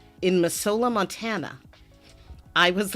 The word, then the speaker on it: Missoula: It looks like a S, but it's not a S, it's a Z.